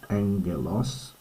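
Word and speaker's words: ἄγγελος: Angelos, notice the double gamma. So the first one's pronounced like an N. Angalos, which is becomes our word angel or messenger.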